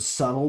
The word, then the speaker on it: subtle: Don't be Don't be somebody who like literally mispronounces the word subtle because they've only ever seen it spelled and never spoken. And then when you find out the B is silent, you are still going